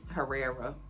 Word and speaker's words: Herrera: Apparently, let me just say Herrera. Because it's with an H. It's H-E-R-R-E-R-A, okay? But when you pronounce it in Spanish, it's probably Herrera.